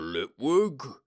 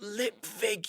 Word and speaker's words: Lipwig: Lipwig?" "It's pronounced lip vig, you moron," he moaned.